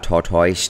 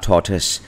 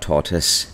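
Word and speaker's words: tortoise: ครับ American torus Rescue คำ นี้ ไม่ ได้ ออก เสียง ว่า tor Toys นะ ครับ อย่า ไป คิด ว่า สะกด t o i แล้ว จะ ออก เสียง เหมือน n o i noise ที่ เรา คุ้น เคย นะ ครับ ไม่ ใช่ ครับ คำ นี้ ออก เสียง ว่า torus t o r t o i e ออก เสียง ว่า torus นะ ครับ American torus Rescue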